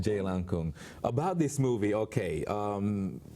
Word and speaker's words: Jailangkung: actually um yeah the the correct way to say it is actually J Lan Jay Lan Kung about this movie okay